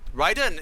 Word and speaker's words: Raiden: We're calling him Raiden because of NetherRealm, but Raiden is how you're supposed to pronounce that name.